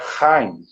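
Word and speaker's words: חיים: A palavra vida, ela se pronuncia Haim.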